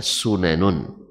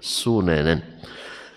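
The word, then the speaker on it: سننا: Yang umumnya kita baca sunanun. Sunanun. Tapi di sini bacanya sunanan.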